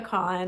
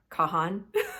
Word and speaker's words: Kahan: okay I've got Noah Con on repeat it's spelled k a an but I believe it's pronounced con not Kahan like you think it would be and the song I